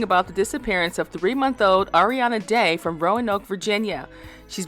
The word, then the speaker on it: Arieanna: Is it Arieanna? Yes. Okay, Arieanna, just want to make sure I'm pronouncing her name right.